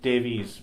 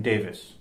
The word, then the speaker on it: Davies: People insist on pronouncing it Davies, but because it's with the E, right? But my family's just always been Davis. Always Davis, Davis. I'm pronouncing it wrong. I apologize. And any other family I know with the Davis with the E, in Wales at least, is always Davis.